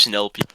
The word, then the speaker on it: Nulp: And I don't know how to Yeah, pronounce that. exactly. NULP. My name is Nilp. Nilp.